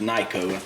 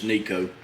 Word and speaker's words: Neiko: I don't think it's pronounced Neiko. It's Neiko.